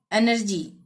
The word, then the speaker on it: energy: ठीक है, अब तीसरा था वाई, जी के बाद वाई आता है तो एनर्जी, ENERGY, जी के बाद आ गया ना वाई, तो एनर्जी, ज का ही उच्चारण होगा।